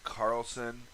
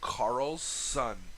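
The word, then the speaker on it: Karlsson: vancouver signed a lioness carlson sorry let me repronounce that it's carl's son like like there's two s's uh to an option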